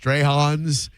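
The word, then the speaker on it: Strachan's: from uh it's it's spelled Stratins, but it's pronounced Strayhons.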